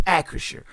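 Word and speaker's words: Acrisure: the 8-8 Steelers at acresure stadium in Pittsburgh one o'clock kickoff on CBS know that I finally got the name of the pronunciation of the stadium right it's accuracia the Steelers are three-point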